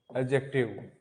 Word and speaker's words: adjective: चलो आज का जो हमारा टॉपिक रहेगा बच्चों, वो रहेगा हमारा एडजेक्टिव। इसको एडजेक्टिव कभी मत बोलना। इसको दोबारा से लिख देता हूं मैं, एडजेक्टिव। डी में साइलेंट रहता है हमेशा, एडजेक्टिव।